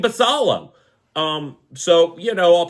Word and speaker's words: Basallo: games then you have S basalo or baso I'm pretty sure that's how you pronounce it's Samuel baso uh my dumb mind just wants to keep saying basalo um so you know